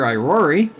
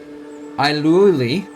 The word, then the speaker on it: Irori: Irori, pronounced either Irori or Iluli, is the god of enlightenment, self-perfection, knowledge, healing, and inner strength.